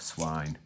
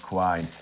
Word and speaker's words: Quine: and trades with Rob Swine. Rob Quine. Rhymes with swine or wine.